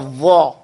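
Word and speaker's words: ظ: And they'll pronounce it as a Z. Okay? You pronounce it as a Z. It is not a Z. It is not a Z. Okay? Or it is not a D. It is not a ZD. It is not a ZDH. Not a DZH. It is a va.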